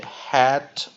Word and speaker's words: head: 它的两个 vowel 不是 V 加 V，它是后面的 A 不发音，前面的做降母音，也就是短母音，所以 head，所以我们看它的 short vowels E，然后我们有个 silent A，所以它是